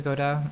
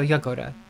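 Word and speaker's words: Jagoda: Thanks to Goda or Hagoda. Sorry, I don't know. Fuck. Okay, I need to go to the spa. I'm fucked. Who's my favorite? Jay pronounced like Y. Okay, so Yagoda.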